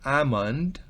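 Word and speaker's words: almond: rojo amant piense que eres a l no se pronuncia amant almendras el broad bean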